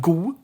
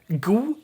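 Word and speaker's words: god: like like i said d gets robbed a lot so we have gu instead of good good drop the d here gu but something to note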